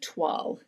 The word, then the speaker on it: toile: So you'll see, like, this one right here is very toile.